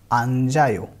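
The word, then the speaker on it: 앉아요: Replace करेगा और ये इसको हम ऐसे पढ़ेंगे अंजायो, अंजायो। सिमिलरली इस वाले वर्ड में भी ये ऑप पढ़ेंगे इसको, क्योंकि इसमें स साइलेंट रहता है, प को प्रोनाउंस करते हैं, तो ये ऑप है, ऑप।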